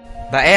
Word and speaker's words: Bae: Bae ang tawag noon ng mga katutubo rito, na mali naman na bigkas ng mga Kastila bilang Bai.